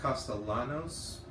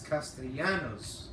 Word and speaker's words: Castellanos: I remember seeing Markiplier pronouncing that as Castellanos, but his name is Spanish. No, actually, it's Castellanos, Mark. Pronounce well, bro.